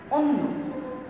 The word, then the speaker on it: অন্য: যেমন অন্য, এখানে অ আছে এবং তারপর নয়ের সঙ্গেটি জফলা আছে, তাই এই অ এর উচ্চারণটা আমি কি বলছি? ও এর মতো করে।